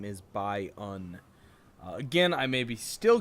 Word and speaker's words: Byun: is going to be I love by own I believe is how it's pronounced uh Boon as I said last game is definitely wrong uh he's a Korean